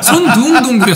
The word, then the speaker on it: 손둥동굴: 그리고 저기요 품님 손동이 아니라 손둥이라고. 네. 손둥동굴이요. 손둥동굴. 네. 손동이 아니에요. 발음이 되게 어려워.